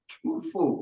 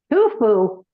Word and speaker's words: tofu: Annette, you're making your delicious chocolate peanut butter tofu pudding, right? Tufu. Tofu. Excuse my pronunciation.